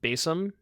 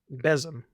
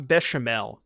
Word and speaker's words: Basim: another time emotional damage it's pronounced basm all right well oh on a second wake up bzm bzm bzm like that I'm trying okay I'm trying no not bashal stop uh all right loot me loot